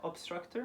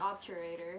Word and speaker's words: obturator: What was the obstructor? Was it obstructor? Obstructor. It sounds so aggressive. It's obturator. Obturator. Obstructor. Obturator. And then Sural. sural nerve. Obturator and sural.